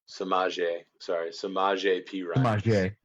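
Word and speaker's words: Samaje Perine: Samaje P. Ryan.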